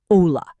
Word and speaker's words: hola: In Spanish, the letter H is always completely silent. Always, no exceptions. Hola is not pronounced with an H sound. It is just hola.